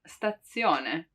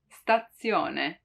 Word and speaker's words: stazione: actually the letter zed it's often heard as a double one like in stazione stazione it really seems like there are two dead right statzione but the truth is